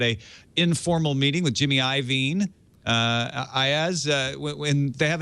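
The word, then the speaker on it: Iovine: his name is it I I IV it's iven I I only know that because uh I've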